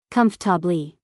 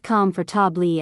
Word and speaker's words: comfortable: Say it slowly with me. Comfabi. Not calm for tabli as many learners say. Just combabi.